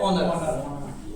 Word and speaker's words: honour: इसमें x silent होता है, इसको हॉनर नहीं पढ़ते, क्या पढ़ते हैं, ऑनर, ठीक है।